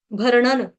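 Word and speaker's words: भरणं: अण एक बाण का, उसके ऊपर जो बिंदी है उसका उच्चारण भी आधे हलंत न से होगा। क्यों? क्योंकि आगे लगा है द, तथ द द न। ठीक है, इसलिए यहाँ पे भरणन इस तरह से आएगा।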